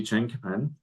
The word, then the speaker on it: chinkapin: chestnut and oak so it's a lot easier to spell it without the Q and uh and say chinkapin uh and we always say chinkapin oak not just chinkapin uh for that very reason.